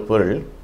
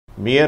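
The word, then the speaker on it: bear: இதை சிலர் தவறாக பியர் என்று உச்சரிக்கிறார்கள். அப்படி உச்சரித்தால் அதனுடைய அர்த்தம் மாறிவிடும். அது ஒரு மதுபானத்தை குறிக்கும். எனவே இதை பேர் என்று உச்சரிக்க வேண்டும்.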